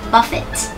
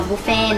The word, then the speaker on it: buffet: ยัง ไง คะ อ่า ถ้า เกิด ว่า ใน อเมริกา อะไร อย่าง เงี้ย นะ เรา จะ อ่าน ว่า Buffet buet Buffet นะ คะ ไม่ อน ว่า บุฟเฟ่ต นะ ไ ี่ ไม่ แน่